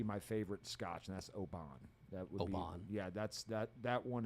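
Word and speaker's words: Oban: uh would be my favorite scotch and that's obon yeah that's that that one is probably my favorite it's good that's right that's mine was it the more northern or scotch it's actually pronounced open oh oh wait that sounds like it looks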